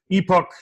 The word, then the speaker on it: epoch: We just wanted to do a little section called Epoch News, or Epic, depending on how you like to pronounce those things.